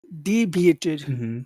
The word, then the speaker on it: deviate: sound has the accent which syllable has the accent in that word d d de so th those are two reasons why this must be a very big sound one it's the ented syllable but also it has this situation where you have the the eating sound so it's much longer so the conversation